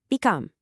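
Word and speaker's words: بكم: Become. That's it. 2 little syllables.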